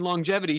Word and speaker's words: longevity: And finally, for round 1, the wholesome round, we have Kelly at Self-Made Mastery, who asks, why do we pronounce the G in longevity twice?